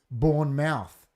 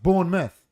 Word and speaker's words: Bournemouth: you have to say born mouth when it's Bournemouth guys is it Derby or Derby it's pronounced born myth not born mouth isn't it well in